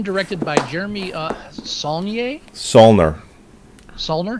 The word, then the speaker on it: Saulnier: Solner? I think it's Solner. Okay. I always go for the French pronunciation. Saulnier.